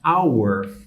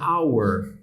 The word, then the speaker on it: hour: isso claramente a palavra our né ela começa por H né mas vocês podem notar aqui que o h não é pronunciado né então assim como